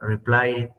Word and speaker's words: replied: Entonces, ahí en este caso vas a tener un sonido de una D suavita. Replied. ¿Dónde va a ir la D? En el paladar bajo.